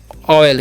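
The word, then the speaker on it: oil: ओ एल देखिए पले ओ आई एल तो इसे पढ़ते हैं ऑयल क्या पढ़ते हैं ये ऑयल ठीक है ऑयल पढ़ते हैं यानी कि यहां पर ओ का चन ओ हो रहा है ठीक है उसी प्रकार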